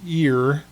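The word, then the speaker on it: עיר: we get that word ear. It's just like your human ear and it means city in Hebrew.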